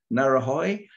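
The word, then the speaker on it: Ngauruhoe: I think Josh will not know how to pronounce it. It's Maori name, Narahoi.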